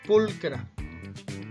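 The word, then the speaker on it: pulchra: una cosa así verdad sin embargo no se pronuncian haciendo si no se va a pronunciar como pulcra esto significa hermosa muy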